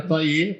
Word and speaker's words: Toillier: A origem é francesa, mas como bom alemão de Santa Cruz, né? Pegar o exemplo de você, perto aí de Taquari e tal, acaba virando Toller, mas a pronúncia correta é Toiller, porque é de origem francesa, né?